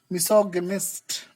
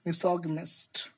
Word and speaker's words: misogynist: So these kind of people who hate marriage are known as misogynist. Misogynist. Let me show you this word phonetically.